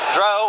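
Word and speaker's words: drow: and said it's Dro as in row nice it goes literally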